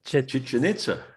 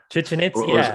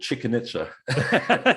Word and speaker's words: Chichen Itza: I don't know how to pronounce it. Chichen Itza. Chichen Itza, or, or as a friend of mine calls it, Chicken Itza. Right. I didn't want to call it that. I had that thought. I'm like, it's not chicken.